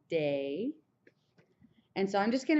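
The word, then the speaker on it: des: to change a bit it's going to be day day so even though there's a s there you don't say it you just pronounce it as day and so I'm just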